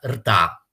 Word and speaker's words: ṛta: Lì appare questo termine curioso, che si pronuncia rta e che si scrive, cioè si traslittera R-T-A, la R ha un puntino sotto.